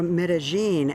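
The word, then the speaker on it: Medellín: Today, Medí, or Medigene, as it's pronounced here, is peaceful.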